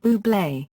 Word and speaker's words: Bublé: A campaign featuring Fever was launched before Valentine's Day with a quirky marketing campaign that simply stated "You pronounce it Bublé."